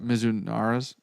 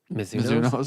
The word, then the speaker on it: Mizuno: I hit Pings, 2 different versions of Pings, 2 different versions of the Mizunaras. Nope. Mizuno's.